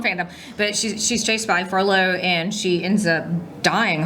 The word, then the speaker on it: Frollo: I can never say his name. I keep on right. saying Frodo, but that's wrong. Yeah, sorry. Wrong fandom. Yeah, wrong fandom. But she's chased by Frollo, and she ends up